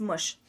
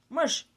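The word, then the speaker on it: мъж: word for a man in Bulgarian language is mush mush that's it mush you can write it in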